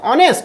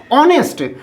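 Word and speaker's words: honest: ही is dash ऑनेस्ट, यहाँ पर देखिए एच साइलेंट हो रहा, ऑनेस्ट तो वॉवेल साउंड से आ रहा है, इसका मतलब एन ऑनेस्ट होगा, sorry he इज एन ऑनेस्ट।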